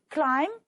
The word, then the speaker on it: climb: Climb. The B is silent and honest, the H is silent.